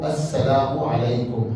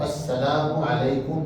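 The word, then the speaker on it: السلام عليكم: सलामती हो दुनिया का जो सलाम है वो अस्सलाम अलकुम है सलाम के लफज़ के साथ अलिफ लाम आता है और ये लाम जो है वो सीन के साथ मिलने की वजह से साइलेंट होकर अस्सलाम वालेकुम बोला जाता है।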